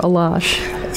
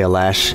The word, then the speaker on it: Alash: um uh I'm wondering am I pronouncing the name right alash or alash either one is fine you know alash sounds closer to the tubin but I you know I say Al lash in English okay you know even